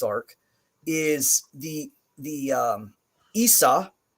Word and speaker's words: Isa: is the the um Isa is a short I sound so like in sit and it and bit it's also the I sound like an Iceland so spelling Iceland would